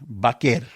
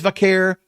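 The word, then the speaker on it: Vaquer: V like a Baker, like Baker almost. The Q the Q U is like a K. Baker. That's it. And everybody else says vaker. Why? Because it it it goes with the pronunciation.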